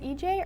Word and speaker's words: Ije: I swear to gosh is it EJ or yeah that's right no but you said